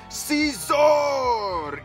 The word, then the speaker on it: Scizor: fact that it's freaking seor e ex you have to say it like zor or something so here is a